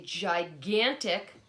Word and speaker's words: gigantic: He's eating what he calls a gigantic chocolate chip cookie. See if you can find the word gigantic. It sounds like it starts with a J, but it actually has a soft G sound.